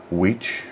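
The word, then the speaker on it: wicce: or a male practitioner and the feminine version the female practitioner is weech with an e at the end w-i-c-c-e um so i think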